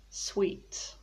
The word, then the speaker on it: suite: a living room suite so again we've got suit sweet sweet sweet and sweet stomach people often pronounce